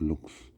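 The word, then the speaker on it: lux: It's spelled L U X, but it's pronounced looks.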